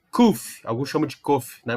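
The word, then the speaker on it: קוף: Esse Kuf não é o P. É o som do Q.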